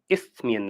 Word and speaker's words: Isthmian: So then, okay, you are currently in the Isthmian League. How do you pronounce it?